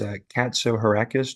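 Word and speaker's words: Katsohirakis: For the record, my last name is Katso Heracus. Do you want me to spell it?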